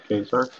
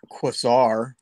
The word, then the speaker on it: Quasar: Did I say it right? Kesar? It is now. No one's going to question that from here on. I just keep thinking of The Hangover. It's pronounced Quasar.